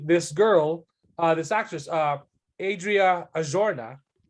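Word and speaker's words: Arjona: It's actually this girl, this actress, Adria Ajorna, or I think she pronounced it like Azurna, something like that.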